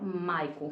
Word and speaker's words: Michael: Se escreve Michael, mas é se fala Maichael.